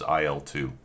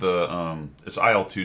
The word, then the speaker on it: IL-2: And that's spelled Isle as in shopping. aisle. Yeah, it's IL-2 Sturmovik.